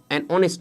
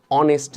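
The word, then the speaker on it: honest: সামনে আমরা এন ইউজ করবো যেমন আমরা এখানে অনেস্ট ম্যানটাই যদি দেখি আমরা আরেকবার অনেস্ট ম্যান এখানে আমার এই উচ্চারিত হইছে হয়নি আমরা কি বলছি এইচ বাদ দিয়ে উচ্চারণ করতেছি আমরা কি বলছি অনেস্ট ম্যান মানে কিভাবে বলতেছি এতটুকু উচ্চারণ করতে শুধু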